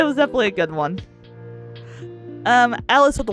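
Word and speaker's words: Alyce: Basically, so Alice in Wonderland, she ends up having a granddaughter whose name is Alice, but it's spelled A-L-Y-C-E, so that's why it's called Alice with a Y.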